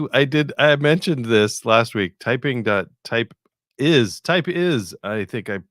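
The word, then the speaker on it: TypeIs: Type is, I think I pronounced it type ls.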